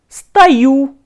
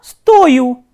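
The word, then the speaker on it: стою: Ya stayu, ya stayu, this is stayat and the stress is on you, while ya stoyu, this is stoich, stoich is to cost, and if you look at both these forms, you will find the spelling is same. The only difference is the stress. Here the stress is placed on U and here on O.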